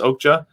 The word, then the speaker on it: Okja: anyone ever seen okay okay i think it's pronounced okja it's like a like a documentary sir no